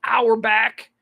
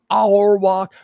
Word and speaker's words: Auerbach: life red all Bach said I say it Arbok red hour I've heard it pronounced our back our walk Red Auerbach uh one